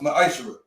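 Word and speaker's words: מעשר: It means tenth in Hebrew, and it's pronounced ma'ashra.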